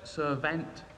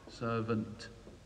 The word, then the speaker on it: servant: Servant. Spelt servant. Pronounced servant, servant.